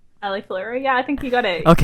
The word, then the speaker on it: AliFluro: If I pronounced that right, did I pronounce it right? AliFluro?